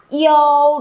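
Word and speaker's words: you: À, yêu, đúng rồi. Không có chữ O nhưng mà chúng mình vẫn phải mặc định trong đầu là nó có chữ O nhé.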